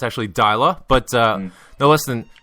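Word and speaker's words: Deila: any further Ado first topic Paul Ronnie Ronnie daa I was I see I was mispronouncing it the whole time I even referred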